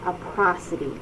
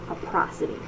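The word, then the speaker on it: aprosody: visual perceptual deficits and a prosody yes that is the correct way to say it a prosody please watch these videos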